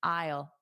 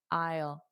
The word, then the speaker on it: aisle: I think what Manuel said, if you just think of it like the word aisle, I will is really the same pronunciation. So, just imagine you're saying I will as a contraction, aisle, aisle, isle.